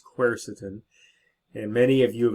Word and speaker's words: quercetin: like resveratrol the dreaded quercetin that's how you pronounce it it's quercetin and many of you have asked about quercetin